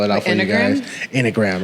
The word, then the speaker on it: enneagram: Enneagram. It's not an enneagram. Okay. It's enneagram.